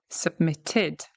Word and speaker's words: submitted: Submitted, submitted. We have the ID ending because it ends in a T, the submit, the base, the root form of the verb, right?